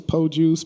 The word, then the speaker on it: Pogues: Yeah, it's Pogues, Pogues. I've heard everything you heard of, but it's Pogues, man, Jamal Pogues.